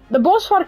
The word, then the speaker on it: Bosvark: your guys' pronunciation, but the bosvark how you would say it is bos, which is bush, vark, I've told you guys, is pig, so it's the bush pig.